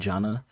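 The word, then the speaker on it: Jannah: You can, I believe both John Boyega and the actress who played Jana, is how you pronounce her name, they both said that the idea for their characters was to be a love interest.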